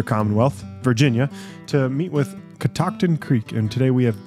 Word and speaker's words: Catoctin: You say Catoctin.